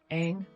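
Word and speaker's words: Aang: pronunciation of the Avatar Ang rhymes with tang not Ang rhymes with dong what really gets me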